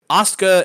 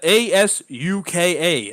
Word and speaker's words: Asuka: Asuka, Asuka. I am not mispronouncing Oscar.